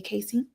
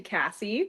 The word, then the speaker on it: Cassie: My pronunciation is actually Cassie. I just want to Yes. Yeah. No worries. People see the spelling and uh call me Casey a lot, so no problem at all.